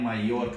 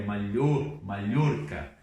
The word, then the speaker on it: Mallorca: Eu escutei no Brasil falar em Maiorca, não é Maiorca, é Mallorca, ok? Como se fosse LH.